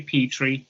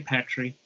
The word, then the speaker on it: petri: one thing though yeah don't say petrie say petry i i hate it when americans say petri dish i cannot promise that